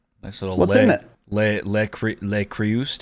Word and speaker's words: Le Creuset: Le Creuset. How do you say that brand? Le Creuset? Le Creuse? La Crue?